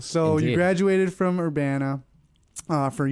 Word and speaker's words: Urbana: Urbana. That's how you pronounce it? Urbana-Champaign. Champaign. There you go. Yes, indeed. Big deal. So Indeed. You graduated from Urbana, from U of I Urbana, pre-med.